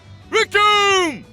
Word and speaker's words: Recoome: できた当たれカメハメはー伸びろ如意棒海洋拳はあいけるかおりゃごめんだぜだふん万国びっくりしょねえねんコロリよ受けてみな天空ペケ事件冗談じゃないぜはっいけ行くぜダブルローガ夫婦剣せい Recoome, which rhymes with Doom, is a very I can't sugarcoat it.